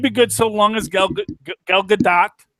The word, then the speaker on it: Gal Gadot: good so long as Gal Gadot, you do pronounce the T. Gal Gadot is, you can look it up online.